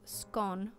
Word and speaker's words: scone: could be derived from scone which rhymes with gone a gaelic term for